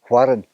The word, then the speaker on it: Dalquharran: and we asked her how to pronounce the name of the castle so we must apologize because we got it wrong the name of this castle or to or to pronounce the name is warren warren castle so there you